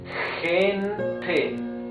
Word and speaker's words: gente: Now, when the G is followed by letter E or letter I, in Spanish, it's letra E or letra I, right? Like in gente, you see it's a different sound of G. It's gente, that means people.